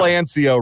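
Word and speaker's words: Anciaux: years yeah that uh that silent X trips some people up but they're going to have to learn it you keep scoring touchdowns there won't be any mistaking how it's pronounced moving forward will anio red shirt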